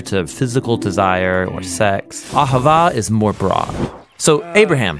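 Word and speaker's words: אהבה: It's pronounced Ahavah.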